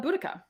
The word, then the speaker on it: Boudica: going to start about uh boudicca so and that's that's how i'm going to say her name i know vodka and buttaka or whatever i'm glad you're pronouncing